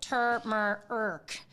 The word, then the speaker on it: turmeric: Oh, so I'm going to have to play this because it looks like turmeric, and there's a lot of people are Googling is the R silent in.